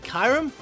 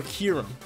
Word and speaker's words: Kyurem: saying his name wrong is it kyram or kirum i feel like it's kiram now that i looked at the same because it has a little u but either way throughout